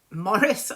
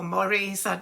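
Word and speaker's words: Maurice: It was called Morris or Moraurice whether it was the sort of English pronunciation on the French one.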